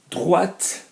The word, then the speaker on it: droite: Droite would be the same, but you're pronouncing the T on the end because it's to the right, okay?